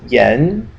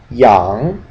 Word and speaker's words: ian: you read this is Yen even though this one is yeah and young okay so yeah yen Yang okay so you'd want to think that this is pronounced Yan but it's not okay even though it's